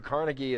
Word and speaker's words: Carnegie: explains more about John D Rockefeller and Andrew Carnegie is an is a uh Scottish immigrant his name is actually pronounced traditionally carnegi and he although he does